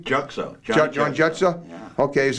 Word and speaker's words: Juxo: Jutso. John Jutso? Yeah. Okay, is that spelled like jet ski? No, almost? J-U-X-O, Juxo.